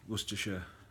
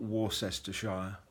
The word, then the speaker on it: Worcestershire: I hail from a town called Bromsgrove in Worcestershire England and that's what stir sure not war sester Shire as most people seem to mispronounce the name